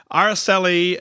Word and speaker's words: Aracely: Aracely is how I believe I pronounced her name correctly. Man, she's an amazing gal. I had a chance to meet her up in Wheaton, and I asked her to pronounce her name 18,000 times for me so I could make sure I got it right.